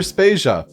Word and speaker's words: Spacia: Jodie Vader and I'm Spacia for brought to you by anonymous dinosaur and rhymes with Asia it's time to appreciate